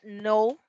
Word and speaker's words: know: K no se pronuncia Cuando tenemos una k y una n normalmente la k no se pronuncia Entonces por ejemplo New